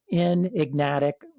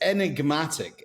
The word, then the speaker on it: Enigmatic: a fintech company called in ignatic I just messed that up in ignatic how do you say it bish it's enigmatic enigmatic enigmatic smile we're gonna find